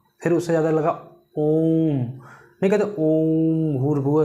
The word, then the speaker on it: ओम: यानी समय लगता है जैसे हमने कहा ओम ओम कैसे लिखते ओ ये वाला ओ म अब यहां पर देखिए इसका जो उच्चारण होता है यह काफी लंबे समय तक होता है जैसे दीर्घ से काफी